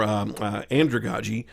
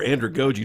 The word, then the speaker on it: andragogy: When we get to adults and study of more andragogy or andragogy, depending on how you want to pronounce it, basically you get terms or terminology.